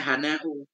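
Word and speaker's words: حناء: Hiyal hena'u. Cuma bacanya hana'u.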